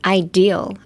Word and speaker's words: ideal: like just next is ideal. Ideal deal. Ideal deal. Um, emphasis on the D.